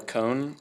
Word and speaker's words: Kone: i'm using is called a cone it's spelled kone and it's basically stainless